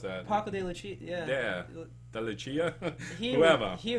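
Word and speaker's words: Paco de Lucía: And Paco de Lucia, how do you pronounce that? Paco de Lucia, Yeah.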